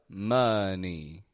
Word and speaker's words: money: about this money money it's not Mo or man but money getting an uh sound in that o money and this time we're